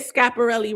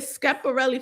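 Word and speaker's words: Schiaparelli: So it's act it's scap not scap.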